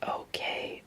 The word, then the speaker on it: Ok: Its name spelled OK, but pronounced Ok, was obviously not okay for a long time.